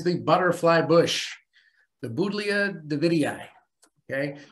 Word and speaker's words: davidii: butterfly bush the boudia davidii okay you have to pronounce both eyes at the end it's a rule uh i guess david